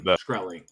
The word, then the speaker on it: Shkreli: They're doing a cool AMA with Martin Shkreli. I don't know how to say the last name. Shkreli.